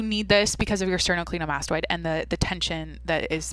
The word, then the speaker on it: sternocleidomastoid: I said it wrong, but I was on track there. Yep, that's sternocleidomastoid, dude.